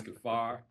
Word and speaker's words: Kaphar: the man of the hour Titus gafar did I pronounce that correctly yes you did yes you